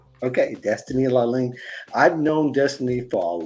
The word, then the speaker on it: Lalane: Now, did I pronounce that right? Yes. Okay, Destiny Lalane.